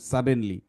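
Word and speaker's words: suddenly: ঠিক আছে, এটা এখানে দেখো সাডেনলি আমরা ভাগ করছিলাম এরকম সাড ডেন লি, কিন্তু আমরা পড়লাম সাডেনলি।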